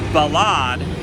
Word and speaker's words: ballade: of these examples the balad not to be confused with the ballad we always pronounce it as a french word because the ballad and